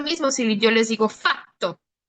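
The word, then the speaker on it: fatto: Entonces, si se dan cuenta, la diferencia principal es que la consonante doble dura más tiempo.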